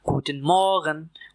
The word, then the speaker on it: Guten Morgen: इस वर्ड की प्रोनाउंसिएशन है गुटन मॉ्गन। गुटन मॉ्गन आर थ्रोट से और गुटन को ज्यादा स्ट्रेच नहीं करना।